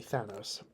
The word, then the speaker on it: Thanos: Thanatos, so it'd be Thanos. Thanatos was the Greek god of death.